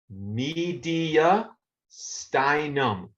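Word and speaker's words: mediastinum: Media. Stinum. Say the word media, then say styum.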